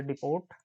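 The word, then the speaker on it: depot: से user D से डिपोर्ट और एम से मॉड्यूल कई बार इसको डिपो बोल दिया जाता है यहां साइलेंट होता है यूजर डिपो मॉड्यूल ऑप्शन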